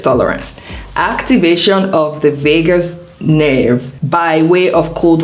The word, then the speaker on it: vagus: Now let's talk about the vagus nerve before I talk about cold water therapy. What is the vagus nerve? Now I'm not talking about Las Vegas. It's the same pronunciation but different spelling.